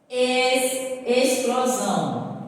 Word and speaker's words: explosão: Explosão. Explosão. Veja só. É escrita com o quê? Com X. Mas preste bem atenção, é no som que sai. Dá o som de S.